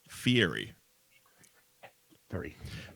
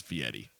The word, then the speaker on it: Fieri: right before me and he was calling him fiery very and it got to a point where guys stopped the interview and said have you ever watched triple D I say my name 47 000 times it's Fieri and he actually pronounced ego's fee Eddie it's